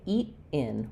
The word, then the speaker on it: eat in: But here, because the stress is on in, it's going to have a bit of a break before it. So rather than using that flap t like we do in got it, we're going to say eat in, we're going to use